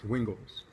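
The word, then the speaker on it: Wingels: Wingles. Okay. Yeah. I wanted to make sure I was going to pronounce the Sharks player's name right, because Dave Clark knows everybody.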